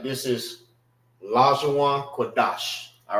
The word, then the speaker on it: Qadash: Qadash, Salaki. Qadash. So it won't be Da Sha. It's Qua Dash. Dash. Pronounce it together.